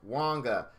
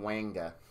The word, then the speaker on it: Wanga: first thing about Wonka is his name is pronounced Wonga very funny story on this when I first got him I was pretty excited and I was calling him wanker and uh you know of course you know